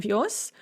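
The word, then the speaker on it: вёз: course is pronounced visti, the z is pronounced as sa in the masculine form because it is at the end of the word. We have that word final devoicing, so on vios.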